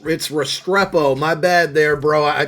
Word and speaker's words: Restrepo: But one other upgrade that we're working on here is this Xavier Resperito. And I totally butchered that name. Restrepo.